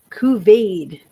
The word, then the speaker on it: couvade: Couvade. is how we're going to pronounce this.